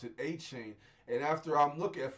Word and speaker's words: Etienne: The E makes the A sound. The T makes the C sound.